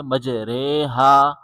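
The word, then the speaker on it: مجريها: یہ سراسر غلط ہے۔ درست طریقہ امالہ کے قاعدے کے مطابق اسے مجریہا، مجریہا پڑھا جائے گا، یعنی را کی آواز کو جھکا کر رے کر دیا جائے گا۔ اب ہم اس کو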